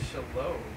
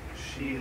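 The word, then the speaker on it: Shelob: they are big as Shalo no not as big as Sheil it's pronounced Sheil whatever spider but but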